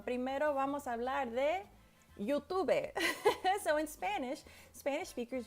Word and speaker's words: YouTube: And the E at the end of words is usually silent. So YouTube.